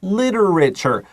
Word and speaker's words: literature: okay literature or yeah literature has a tricky pronunciation you can't well Gangnam Style right literature so I is short I just shot litters right now we have literature it's like a t-u-r defiant is always a